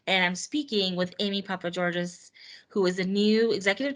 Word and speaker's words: Papageorges: Yes, Papageorges. Okay, perfect. I wasn't sure if you now pronounced the S or not.